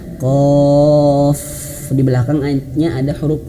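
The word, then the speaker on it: ق: Cara bacanya mirip seperti yang pertama tadi ya, tapi berbeda hurufnya. Ini hurufnya Qaf. Nah, hurufnya Qaf diberikan hukum bacaan warna ungu. Mad 6 harokat atau 6 ketukan.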